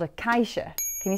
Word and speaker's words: caixa: This instrument is called a caixa.